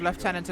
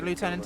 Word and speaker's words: lieutenant: - lieutenant is pronunciation in England we call them left channels it is a French word afterall we pronounce it leftenant the Americans call it lieutenant because they drop all these vowels and now Emiliano has